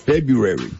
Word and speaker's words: February: A lot of people have a hard time with February. Yep. Yes, Yeah. pronouncing the R. That R BRU. In the beginning.